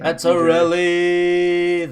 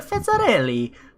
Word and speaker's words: Fitzarelli: Fitzarelli, that's me. You have to say it like Mario. It's a me, a Fitzarelli.